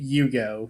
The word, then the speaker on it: Yugo: They say Yugo. That's how the name's pronounced.